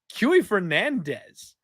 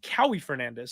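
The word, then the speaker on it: Kauê Fernandes: and he's taking on qy Fernandez and I actually said that wrong it's co Fernandez sorry about that guys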